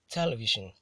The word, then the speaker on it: television: So the word is stressed on the first syllable and is pronounced as television.